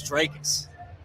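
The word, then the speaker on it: Dricus: ] for it when i called him trickus it's dracus drake i'm not trying to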